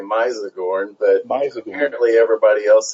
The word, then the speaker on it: Mizagorn: Anyway, okay, that name, and actually I've always pronounced it with a long I, Mizagorn, but apparently everybody else says Mizagorn.